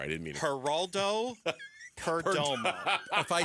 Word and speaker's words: Perdomo: Syllables. Perdomo. 3 syllables.